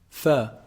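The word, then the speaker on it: ف: Fa is actually pronounced from, combining the edge of the upper incisors when they hit down on the inside part of the lower lip. The inside part of the lower lip. Fa, fa, fa.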